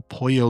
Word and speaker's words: pollo: It's not polo. So chicken in Spanish is not a shirt that you wear? No, and Ashley even explains it, because I remember learning that the double L can be pronounced as a Y in English.